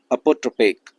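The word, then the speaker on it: apotropaic: अगला शब्द है अपोट्रोपेक। देखो ये लिखा हुआ है, इसका जो पार्ट ऑफ स्पीच है ये है एडजेक्टिव, और इसका जो प्रोनाउंसिएशन है वो होगा अपाट्रोपेक। ऐसे पढ़ा जाता है।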